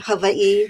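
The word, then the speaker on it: Hawaiʻi: Don't ask me why I've spent almost 40 years here, but I often say that Havi, which again is the correct pronunciation, you pronounce every single letter.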